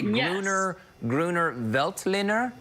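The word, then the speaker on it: Grüner Veltliner: This is a Gruner Veltliner.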